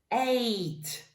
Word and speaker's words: ate: Eat, ate, qui va se prononcer comme le chiffre 8.